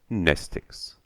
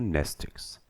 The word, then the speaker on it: Mnestics: Mnestics. Class W, X, Y, and Z. Same Greek root as the word mnemonic. The M is silent.